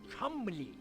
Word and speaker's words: Cholmondeley: My friend, Dudley Chumley. You mean Cholmondeley? Yeah. No. Chumley.